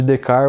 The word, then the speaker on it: Descartes: Cartesiano vem de René Descartes, que se escreve, Descartes, mas a pronúncia seria francesa, mais próxima de Descartes ou algo assim. E Descartes foi o responsável